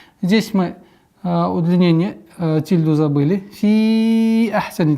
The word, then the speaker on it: في أحسن: Вот здесь нужно быть очень внимательным, так как после применения долготы хамза немножко труднее становится произносить четко. А после которого идет еще и гортанный звук ха. Фи ахсани.